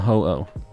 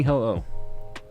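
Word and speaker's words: Ho-Oh: be a Hoo Oxford yes it is a Hoo um h Oxford you've been going for this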